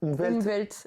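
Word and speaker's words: Umwelt: le monde propre ouais c'est terme allemand c'est umvelt je prononce bien oui c'est l'umvelt de von excu on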